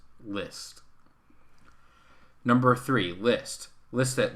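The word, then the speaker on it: Liszt: list by the way l-i-s-z-t is the spelling of a composer whose name is pronounced list number three list list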